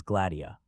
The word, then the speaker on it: Gladia: Yes, her name is Gladia. Grrewer pronounced it in three syllables, accenting the second.